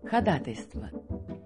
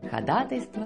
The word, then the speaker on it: ходатайство: нашему соседу дверь починили это слово произносится так ходатайство ходатайство куку ходатайствовать ходатайствовать за